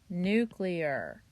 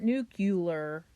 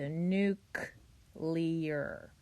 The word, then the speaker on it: nuclear: it to form okay petroleum and nuclear not nuclear okay look how it's spelled it is nuc so nuke leer okay and then number